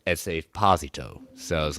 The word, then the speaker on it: Giancarlo Esposito: Everyone's saying Giancarlo Esposito. No, it's Esposito. Wow. It's Esposito.